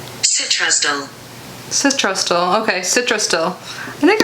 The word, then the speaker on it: Citrusdale: This makes Citrusdale a very special tea that is only available from this unique region.